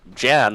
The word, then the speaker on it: Jan: And Jan, like January 1st, because otherwise I will pronounce it wrong, is on the Shadow Fiend.